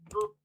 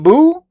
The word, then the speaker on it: Beau: It's pronounced Boo like this guy from Mario.